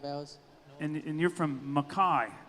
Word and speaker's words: Mackay: It's not McKay, announcers at the National Finals Rodeo. Say it right for him, Kai. It's Mackay. Mackay. Quit saying McKay, just because it's spelled that way. Again, that's not how you say it.